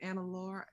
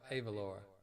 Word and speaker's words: Ava Laura: Going back to Anna, was it Anna Laura? Did I say her name wrong? Anna Laura. Oh, Ava Laura. Ava Laura.